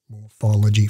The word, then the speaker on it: morphology: The high-class term they use in the research is pelvic morphology, which is a morphology, four-syllable word that just means shape.